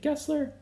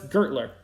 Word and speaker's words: Gertler: companies linked to gessler is it kessler no it's gertler you know what he